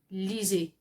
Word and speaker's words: lisez: Now this lisez, you see that the s is in between 2 vowels. Okay, so when your s in French is between 2 vowels, the s is pronounced as z, lisez.